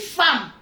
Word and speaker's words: femme: On dit femme, mais ça s'écrit F-E-M. Femme. Le E là, on lit ça A.